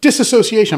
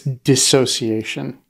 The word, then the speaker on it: dissociation: uh reporter journalist who was like disassociation i'm like no it's dissociation it's just how it's spelled a d-i-s-s i think